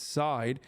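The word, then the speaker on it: Seid: pronounce his last name people who've dealt with him say it's side the lever and pro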